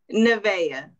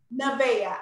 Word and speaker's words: Nevaeh: jackson lavender hezekiah and please pronounce the last the last one for me nevaeh nevaeh i didn't want to butcher it i have a fear about what your name is that's heaven backwards yes and i gave